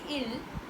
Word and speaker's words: ils: When we say il, which is basically ILS, but we do not pronounce the S, which is the case with most of the plural words in French.